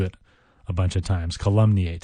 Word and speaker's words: calumniate: to our next word our next word is weird in its pronunciation and even in its spelling to some degree the word is calumny eight it's a verb calumny eight ca lu m n